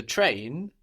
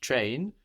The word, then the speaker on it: train: The train, in French, train, is the same word, T-R-A-I-N. So how might that sound in French?